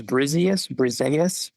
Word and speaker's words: Briseis: I think it's Briseis. Briseis, yes, exactly.